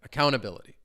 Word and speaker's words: accountability: This one I did come across like not all words may just have one syllable that's definitely stressed. So, I I throw in um both of them. Accountability. Accountability. You can kind of hear both of those two s syllables have a little bit more oomph than the other ones.